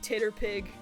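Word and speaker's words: TTRPG: You pronounce it Titterpig.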